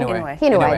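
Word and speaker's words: Inouye: senator from Hawaii Daniel uh how do you pronounce his last name hway there you go uh talk about it and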